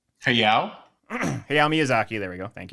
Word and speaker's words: Hayao: I always mispronounce his first name. Miyazaki. Hayao? Hayao Miyazaki.